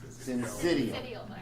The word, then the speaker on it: syncytial: Syncytial.